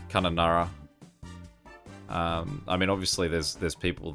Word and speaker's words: Kununurra: The good thing about a lot of Australian names is that they're very, read them as they're written. So that would be Kununurra.